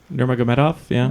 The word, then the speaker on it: Nurmagomedov: Nurmagomedov. Okay. Nurmagomedov, right? Nurmagomedov, yeah, that sounds right.